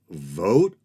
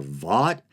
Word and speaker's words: Vought: And if there was any doubt, Trump installed the head architect of Project 2025, Russell, I've heard it pronounced Vogt or Vought, makes me think of